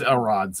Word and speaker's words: Elrod: Of course, Elrod's oblivious. Um he's just in his Foghorn Leghorn voice. Um My name's Elrod, accent on the L.